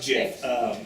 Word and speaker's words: GIF: I believe it's pronounced Jif.